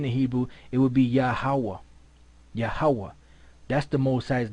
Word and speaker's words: Yahweh: So what's the Most High's name? Yahweh. What did the Gadites pronounce the name as? Yehovah. But then you had the Ephraimites in the Taino language, they pronounce his name Yahya.